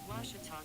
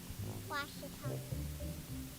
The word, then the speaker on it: Ouachita: How would you pronounce it? Ouachita. It's Ouachita Baptist University. Get it right. It's Ouachita, people. It's Ouachita. Washita.